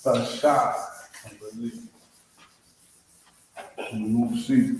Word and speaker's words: Lashawan: I believe it's Lashawan. I believe. We'll see right now. 9. Number 9. It's Lashawan. Alright, that's how it's pronounced, that's how it's spelled.